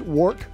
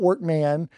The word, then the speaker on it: Workmon: Well, and by the way, his name is Workmon. Mm-hmm. I like to say it's Jamaican. Just the emphasis on the mon, the most common misspelling.